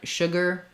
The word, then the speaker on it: sugar: we hold it longer one thing to think about is that the sh sh is already rounded like the uh sound so if you just keep the mouth shape you have for the sh sugar um that that you you're going to naturally get closer to this uh sound and get it correct um if I have